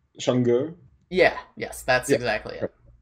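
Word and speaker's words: Chang'e: So it's Chang, and then the E is pronounced like the E in her, but without the R sound.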